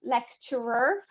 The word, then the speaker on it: lecturer: true, because my lecturer remember to pronounce the ER at the end, lecturer. Otherwise, lecture is just the lesson, whereas lecturer is the person delivering the lecture.